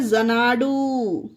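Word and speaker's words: Xanadu: हैं इस चीज को एक्स ए एन ए डी यू तो इसे पढ़ेंगे जनाडु देखिए एक्स के बाद ए आया यही हमारा रूल है कि एक्स के बाद अगर ए आए तो एक्स को जा प्रोनाउंस करेंगे तो है ये जनाडु उसी तरह से एक्स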